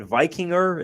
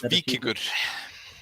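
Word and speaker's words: Víkingur: Is it Vikinger? Is that how you pronounce the? Good enough. It's Vikingur. Okay, that wasn't very good then on my side. Yeah, it was Say it good one enough. more time. Vikingur.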